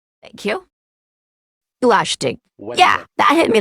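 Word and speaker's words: Glaistig: Okay, so I'll walk you through this pronunciation. Glashtig. Thank you. Glashtig.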